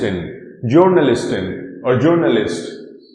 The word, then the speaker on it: Journalist: is journalist or journalist because this word particular word is derived from english language this particular word is